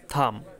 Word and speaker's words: thumb: তারপর হচ্ছে থাম, THUMB থাম হাতের বুড়ো আঙুল।